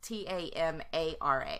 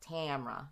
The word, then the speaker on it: Tamara: so just just like my name is spelled ta ma RA so that would really be like Tamara you know but yeah we're from the south so I just leave out that middle a is like Tamara you